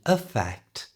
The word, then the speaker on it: effect: a effect you try but in effect that e at the beginning is changed to the schah sound that we've already talked about so it becomes affect now affect is a